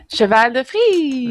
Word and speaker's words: cheval de frise: You're going to have to pronounce it for me because my French is bad. Cheval de frise.